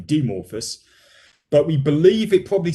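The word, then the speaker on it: Dimorphos: year by the way dimorphous uh sorry demorphus i should pronounce it correctly demorphus but we believe it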